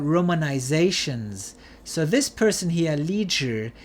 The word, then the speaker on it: Li Zhi: So this person here, Li Zhi, he is also sometimes spelled like this, C-H-I-H. This is the same pronunciation.